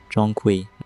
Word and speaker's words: Zhong Kui: In Mandarin, it's pronounced roughly Zhong Kui.